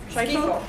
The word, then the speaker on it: Schifo: Schifo? Schifo. Oh, thank you. Yeah, it's an unusual pronunciation, Thank you. but that's what this family, that's the way they do it, so that's the family.